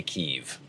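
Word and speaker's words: Kyiv: Kiev has always been pronounced Kiev until recently, and now it's Kiev.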